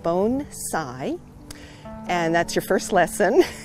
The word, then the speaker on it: bonsai: all the time and they say what is bone side but usually they don't say it like that they say what is bonsai and then so first we have to say okay it's pronounced bone Tsai and that's your first lesson I think because